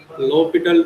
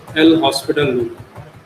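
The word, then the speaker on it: L'Hôpital: we are using generally low petal root or l hospital you may also pronounce it as a l hospital so here you may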